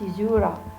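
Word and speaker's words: caesura: son the opening word and sizura this is pronounced izura a break between words within the metrical foot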